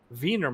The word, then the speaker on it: Wiener: there over in Europe they call it vener malt which is spelled like wiener so I was just